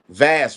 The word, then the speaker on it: Vaz: I say her name wrong. Yes, Vass, right? yes. Miss I Vest.